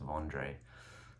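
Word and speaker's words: Wandré: found one um it's called it's called a vandre soloist and it's spelled w n d e v it's pronounced vandre um fascinating guy he's a guitar Builder from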